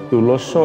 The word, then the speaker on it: তুলস্য: আসলে ঋষিকারটি ব্যবহার করেছি তো তুলস্য এর শব্দ মানে সংস্কৃত শুদ্ধ উচ্চারণ হয়ে যাচ্ছে তুলসীয় তো বিচ্ছেদের কারণে দেখো